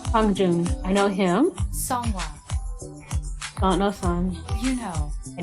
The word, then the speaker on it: Seonghwa: This is how they pronounce their names. Hi, my name is Seonghwa.